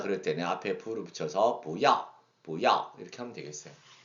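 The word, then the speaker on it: 不要: 근데 여러분, 이제 아까 그 배울 때는 뿌서 이제 강하게 발음했었는데 여기서 바랄 때는 부어 올리잖아요. 이것은 여러분 이제 성적의 법칙 때문에 그런데 이제 뿌 이하고 뿌하고 중고에서는 약간 성적 변화가 있는데요.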